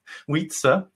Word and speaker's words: Wietse: Mon nom se prononce ainsi, oui, comme like the word yes in French, oui, Wietse, Wietse.